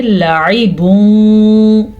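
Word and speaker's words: لَعِبٌ: لیکن اس سے پہلے لام کو لمبا نہیں کرنا، عین کو لمبا نہیں کرنا. لام کے اوپر اگر کھڑی زبر ہوتی تو پھر تو ہم اس کو لا پڑھ لیتے. اگر عین کی بعد نیچے کھڑی زیر ہوتی تو اس کو عی پڑھ لیتے. یعنی اکثر لوگ پڑھتے ہیں لعیبوں، دونوں غلط ہے. ہم اس کو پڑھیں گے لعیبوں. لام اور عین دونوں کو لمبا نہیں کرنا. تنوین کے بعد 2 زبر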